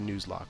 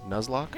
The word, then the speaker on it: Nuzlocke: requirements of nlock yeah is that how you pronounce that I think so Nuzlocke I don't like the I don't like the way the Nuzlocke sounds okay I do think it is nuz but I like news that's really yeah something more